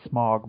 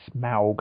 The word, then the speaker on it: Smaug: Coming out, I always used to just call it Smog, but then now the commercials are saying Smaug, and I'm like, is that how I'm supposed to be pronouncing it all these years?